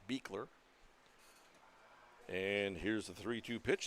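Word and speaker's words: Bichler: a the third baseman beer spells it b i c h l r pronounced beer and here's the 3-2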